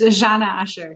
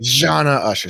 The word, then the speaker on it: Zana Usher: It's Zana Usher. Zana Usher. See, I knew I was going to mess it up. So Zana Usher is here with us from ZD Hospitality.